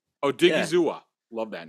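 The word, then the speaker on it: Osa Odighizuwa: Osa Odigizua. Oh yeah, Odigizua. Odigizua.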